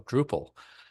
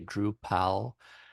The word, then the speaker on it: Drupal: droplet and I said how would an English-speaking person pronounce the Dutch words duple or drop and like oh druple and that's how he came up with the name and literally took me all of 30 seconds and uh I remember the first many years of Drupal people would mispronounce it they would say drw pal and and like people